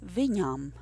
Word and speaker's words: Viņam: The word that precedes the word sāp then is Viņam.